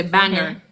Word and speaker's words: Bangor: to uh not Maine, when you're driving from Bangor, Bangor, they're going to say Banger. You're going to go over there saying it's a banger. I'm like, "Huh?" Banger. And then they spell it. It's Bangor. Yeah, Bangor. Oh, but they say banger.